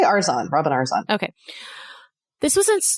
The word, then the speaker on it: Arzon: instructor robin arzon arzone how do you say her last name arzone i say arson robin arzon okay this